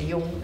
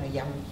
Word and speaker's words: Jung: su estimado discípulo Jung, se pronuncia Jung, no Jung porque es alemán, Jung lo lleva a Estados Unidos para dar estas conferencias.